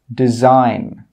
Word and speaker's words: design: When we have a G and it's before an N, the G sound is normally not pronounced. Some common examples are design, sign, foreign, Nash, campaign. In all of these words, we're not pronouncing that G sound.